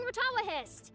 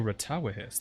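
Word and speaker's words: Rtawahist: Layla's here too representing retalihist Layla oh ratawahist that's how you say it representing haravatot bars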